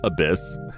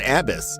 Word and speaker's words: abyss: Um but the when the the person was like ringing it up like they could they didn't even know how to pronounce abyss. They're like made in Abbis and I was just I just kind of stared at them.